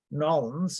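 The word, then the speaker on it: New Orleans: thing to think about I used to live in nolens as they called it all one syllable and then all once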